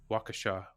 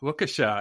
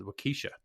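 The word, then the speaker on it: Waukesha: heard from a couple yeah wkha and and maybe I'm still pronouncing it wrong and uh uh so this is what happens if you reach out to us we will respond and uh springjack in wakasa corrected me on my uh pronunciation which I believe I called wesa uh and uh we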